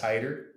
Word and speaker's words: Hidder: My name's spelled Hitter, pronounced Hider, just for the Oh, listeners.